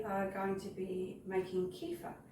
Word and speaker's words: kefir: to be making kefa this is pronounced a few different ways uh Kea CFA um there are probably other ways as well I'm not sure what they are but I just call it kefa what is kefa Kea